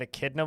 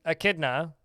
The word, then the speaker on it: echidna: turned on saw someone's larvid last night and pronunciation of Echidna was great how did they pronounce echidna I